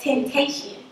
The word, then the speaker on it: XXXTentacion: No, it's XXXTentacion. Tentacion. No, you don't say the XXXTentacion. Yeah. You just say it all together.